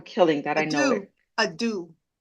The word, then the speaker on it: deux: A do. Like Thank a you. Dude. Okay. Like dude.